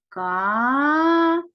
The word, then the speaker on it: кавун: ділимо слово на склади кавун скільки складів у слові два склади правильно визначаємо який із цих складів наголошений гукаємо слово або наголос падає на другий склад тому саме другий склад буде наголошеним А тепер робимо звукову